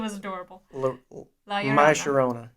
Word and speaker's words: La Llorona: La Llorona. My Sharona. The double L is a Y.